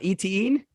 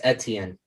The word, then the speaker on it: Etienne: say his name right it's not etein no am i saying it completely wrong no you want to help him out it's etienne travis can i have